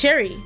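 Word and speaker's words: Cheri: It's cherry, like the flavor. With a nervous laugh, he tugs at the hems of his sleeves. It's spelled differently, though. C H E R I, not C H E R R Y.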